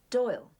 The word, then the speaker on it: Doyle: Doyle secretary and Godfather Doyle doy rhymes with boil what you put a